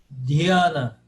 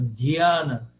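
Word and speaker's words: Dhyāna: Dhyana. Paroxítona. Dhyana.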